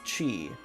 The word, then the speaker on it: Ki: Ki is pronounced chi.